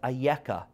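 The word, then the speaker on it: אֵיכָה: appears in the Torah it is pronounced as ayaka in bereshit where God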